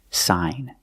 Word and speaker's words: sign: signature so we see when you have GN at the end of the word the g is silent too the pronunciation is sign and you have the long I sound like hi and like sign sign is